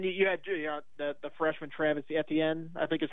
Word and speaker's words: Etienne: ETN, like the 3 letters.